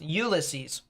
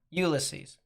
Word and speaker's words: Ulysses: watch uh that area in uh Kansas is pronounced Ulysses perfect Ulysses and I haven't said